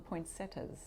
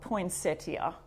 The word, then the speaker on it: poinsettia: at the end that we say the tia poinsettia uh so i have to stop myself and think i'm talking to my u.s friends and you call them poinsettias i think that's how you say it okay so oh it is spelt see it's spelt poinsettia it is with an ia at the end poinsettia and the candy cane